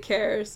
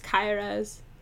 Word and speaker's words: Kairos: Yeah, most people pronounce it Cares, but it's Kairos. It's a Portuguese name. So, yeah. It's like Cairo, but it's an E instead of an O.